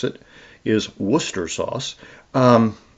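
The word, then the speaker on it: Worcestershire sauce: That's that's actually the proper way to pronounce it is Worcester sauce. Um not wash your sister sauce.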